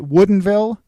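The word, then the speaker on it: Woodinville: Michelle Vineyards in Woodenville Washington I had to pronounce it correctly right Woodenville you did yeah so the winery is not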